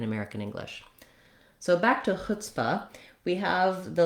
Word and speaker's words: chutzpah: short and reduced because the stress in chutzpah is on the hut or chut syllable. So you don't want it to sound like chutzpah. You don't want a lot of length and stress on that second syllable.